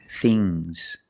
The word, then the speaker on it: things: and we have NGS remember with NGS it makes a soft GG bangs bangs bangs things things things soft G now let's practice with